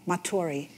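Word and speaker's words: Matory: um james r matori m a t o r y it's like you spell that again i'm sorry m a t o r y maturi yeah he's a duke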